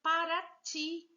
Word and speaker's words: Paraty: Aí nós temos a palavra paraty. Veja que o ti, ele é mais forte. Então, é uma palavra oxítona.